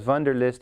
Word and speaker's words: Wunderlist: right now called Wunderlist i guess we should pronounce that as a V because von der list is coming from programmers in Germany ok so I'm going to install Wunderlist I'm going to say it like an American ok so let's install